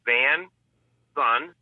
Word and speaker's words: VanSon: It's VanSon, and it's just like the way it's spelled. A van that you drive, beep beep, and the son, like a son of a mom or a dad or a family.